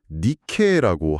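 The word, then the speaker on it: νίκη: 거기서 이긴다라는 단어가 니케라고 하더라고요. 저기 우리가 너무너무 잘 아는 그 유명한 스포츠 신발 브랜드 이름이랑 똑같은 발음 맞죠?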